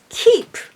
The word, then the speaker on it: キープ: of ch or both of them are good keep keep keep keep if you have some trouble to pronounce this K try to say the consonant